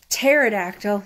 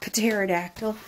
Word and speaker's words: pterodactyl: T is silent and pterodactyl not Patera dactyl that's not a word and then you have